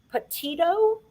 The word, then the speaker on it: Petito: I also wanted to share, everyone is about the Gabby Petito.